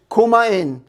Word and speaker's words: kumain: water now let's eat and that is kumain coma in sounds like comma in like my italian grandmother might say come in and eat the now